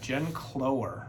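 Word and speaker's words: Jen Cloher: Check out her partner, Jen Clower, I believe is how you pronounce it.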